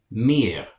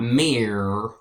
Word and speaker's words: mir: In the dative, you have mir. And German R is kind of pronounced in the back of the throat a little bit, so it's not mir, it's mir.